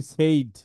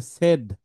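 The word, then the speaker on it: said: আমরা বাঙালিরা বলি সেইড। এটা সেইড না। এটাকে বলা হয় সেড।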